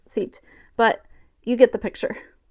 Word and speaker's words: zit: In this case, it's pronounced sit, but you get the picture.